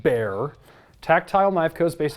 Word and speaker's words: Bexar: you on one thing I'm pretty sure it's pronounced bear tactile knife Co is based out of Texas